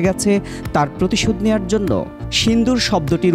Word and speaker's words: সিঁদুর: তার প্রতিশোধ নেয়ার জন্য সিদুর শব্দটির উচ্চারণ নিয়েও জটিলতা তৈরি হলো? এর কারণটা কি? পশ্চিমারা সিদুর উচ্চারণে ততটা অভ্যস্ত নয়। তাই তার নাম রাখা হয়েছে সিন্দুর। অথচ সিন্দুর শব্দটির আসল উচ্চারণ সিঁদুর।